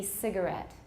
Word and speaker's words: cigarette: In a lot of words, the stress can be either one syllable or another syllable. And in this case, how do you read the word? You stress this syllable? And that's the most common, but it can also be cigarette.